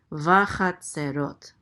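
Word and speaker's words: וַחֲצֵרֹת: Vachatzerot. Accent on the last syllable.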